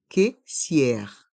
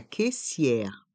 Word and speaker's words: caissière: et le son r à la fin se prononce ensemble cissère siè le caissier la caissière le caissier la caissière un sac à provision un sac à provision